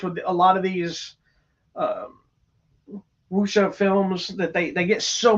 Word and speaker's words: wuxia: Wuxia. It's WUXIA. Not wushu. It's WUXIA.